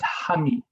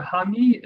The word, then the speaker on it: hangi: If you see the picture here on the left-hand side, this is pronounced, you'll see it written at the bottom there, as hangi. So hangi is a traditional Maori way of eating food, or preparing food, I should say.